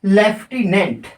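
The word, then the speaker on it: lieutenant: जैसे एक होता है लेफ्टिनेंट एल आई ई लेफ्टिनेंट एल आई ई यू टी ई एन ए एन टी तो ये लटिनेंट होना चाहिए लेकिन इसको पढ़ते क्या है हम लेफ्ट समस्या है यहां पर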